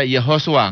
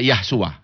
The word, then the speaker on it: Yehoshua: He Shin Waw Ayin, itu harus dibaca Yehoshua, nggak boleh dibaca Yahshua, tidak boleh. Karena kalau saudara baca Yod He Shin Waw Ayin sebagai Yahshua, itu saudara merusak bahasa orang lain. Ya, nggak ada di dalam bahasa Ibrani perkataan Yahshua, nggak ada.